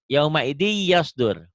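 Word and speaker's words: يَوْمَئِذٍ يَصْدُرُ: Yauma idi yasdur. Apa gimana bacanya? Yauma idi yasdur. Coba baca. Yauma idi yasdur. Karena tanwin ketemu ya ini ya, tanwin ketemu ya tuh.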